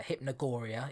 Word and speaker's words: hypnogoria: checked out any of Jim Moon's stuff uh hypnogoria is his name on Twitter I think it's spelled uh h y p n o g o r i a hypnogoria check him out uh Check It Out